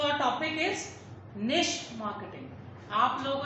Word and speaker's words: niche: मेरे हिसाब से आपको ये वर्ड प्रोनाउंस भी नहीं करना आ रहा होगा। इट इज कॉल्ड एज निश मार्केटिंग।